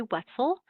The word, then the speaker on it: Wetzel: And so I would introduce myself and I would say, "Hi, I'm Wetzel. Rhymes with pretzel."